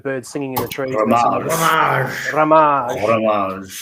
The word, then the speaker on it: Ramage: And my mum says it's Ramage like bucket for those that used to watch, Keeping Up Appearances with Mrs. Bouquet. But, it can be pronounced in many different ways. I can be Ramahere, I can be Ramaji, or I can be Ramage. There's lots of different ways that I can pronounce it.